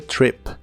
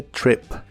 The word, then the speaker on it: trip: de la palabra trip se pronuncia con la i corta about the trip about the trip y usaremos las palabras